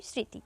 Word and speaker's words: স্মৃতি: আমরা এভাবে উচ্চারণ করি স্মৃতি এখানে ম আছে আছে কিন্তু ম এর উচ্চারণ হচ্ছে না পদের মধ্যে বা শেষে